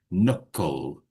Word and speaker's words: knuckle: So we don't say the K. We just knuckle.